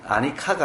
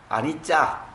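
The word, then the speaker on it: anicca: 그러니까 무아, 무상 이런 측면에서 고라고 하는데 고를 갖다 붙이기는 좀 그렇고 그러니까 아마 무상을 중요한데 근데 무상의 빨리어는 아니카가 아니고 아니짜.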